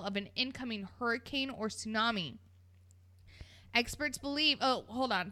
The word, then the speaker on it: tsunami: on pause why does tsunami have a tea in front of it because the T is silent but in what language is the tea silent in anything apparently in tsunami it is okay I